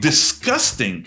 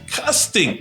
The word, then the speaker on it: disgusting: And finally, "disgusting." Why does it sound like "k" if the letter is "g"? It's not "disGusting," it's "disKusting."